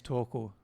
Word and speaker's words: Torkel: My name is Torkel, by the way. Rhymes with snorkel.